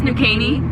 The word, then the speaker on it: New Caney: It's New Caney.